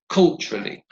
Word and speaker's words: culturally: And finally, the word culturally has 3 syllables, so culturally, and the stress is on the first syllable. So it's culturally.